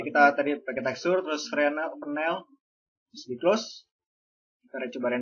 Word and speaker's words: Fresnel: Bacanya Fresnel.